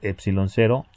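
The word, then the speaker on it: ε₀: carga eléctrica mientras que épsilon 0 pronunciado épsilon 0 y muse 0 pronunciado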